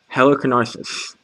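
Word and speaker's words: Halicarnassus: a wonders of the world the mausoleum at heliconics that's how you pronounce it these uh giant cabinet cards are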